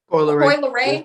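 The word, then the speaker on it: Coi Leray: How do you pronounce her name? Leroy? Coy Leroy.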